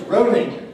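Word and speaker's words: Rowling: german chancellor harry potter author jk well it's ronin yes just like rolling along although the spelling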